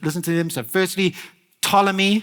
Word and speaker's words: Ptolemy: to them so firstly Ptolemy spelled with a p but you don't say the p apparently Ptolemy seleucus Lassa makers and